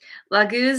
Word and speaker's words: laguz: okay here we go pronunciation laguz meaning fluid and water lagooz is the rune card